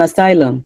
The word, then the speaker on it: asylum: Where is the stress in asylum? Where is it? In sy- So then the other vowel is like uh uh asylum.